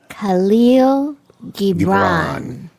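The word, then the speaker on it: Kahlil Gibran: And it's from a gentleman by the name of, I don't know if I'm going to pronounce it right, but Khalil Gibran.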